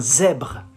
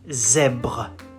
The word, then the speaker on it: zèbre: You say un zèbre. Un zèbre. Zèbre. So, same. Ends with an E, which is silent. So you don't pronounce it.